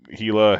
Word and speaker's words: Hela: H or Hela I don't know the correct pronunciation um but and it's actually hila Hela hell um kind of all the same